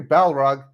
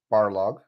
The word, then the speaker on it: Barlog: studio creative director corey balrog has barlog he's not the balrog barlock people get his name wrong all the time he's the ballrog no he's the barlock barlog has said the god